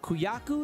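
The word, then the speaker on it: Kujaku: Kuyaku is how you pronounce this.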